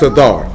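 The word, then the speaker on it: סתר: But it's pronounced sathar.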